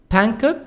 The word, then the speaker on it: Bangkok: for cold cold cold different various parts parts Vancouver Bangkok Bangkok G silent Bangkok Tokyo são paulo sao